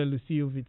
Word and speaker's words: Luscii: Download the Lucille Vitals app right now and connect to the service. Lucille is spelled Luscii.